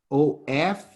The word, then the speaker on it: of: of us yes this o f you pronounce off off is this with double f like turn on turn off one f you say of of yeah more easily taking